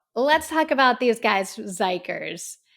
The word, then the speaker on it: XIKERS: let's talk about these guys zikers zikers is spelled x i k RS I'm always paranoid